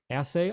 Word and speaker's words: assay: There is a land claims assay office. Yes. That's how it's pronounced.